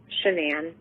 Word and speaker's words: Shanann: Shanann. Shanann, okay.